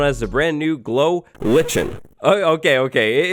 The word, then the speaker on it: lichen: the brand new glow lichen oh okay okay it's lichen not lichen i wanted to say it